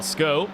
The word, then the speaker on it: Schou: Jan Schou, though, he's, Sko, as we'll get ourselves our pronunciations correct here, in towards the NGK chicane.